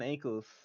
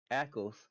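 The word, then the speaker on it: Ackles: Jared padaki sorry wrong wrong person uh Jensen ankles well that's not how you say his name akles becomes the main voice actor for Batman Deadshot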